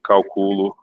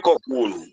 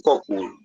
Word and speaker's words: Coculo: Que outra escola teria nessa região de Urucu, por exemplo, ou de Calculo? É o Uruçu. A pronúncia certa é urçu e Coculo. Pronto. Uruçul e Coculo.